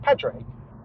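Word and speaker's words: Padraig: had to write my full name which is Patrick and I didn't know how to spell Patrick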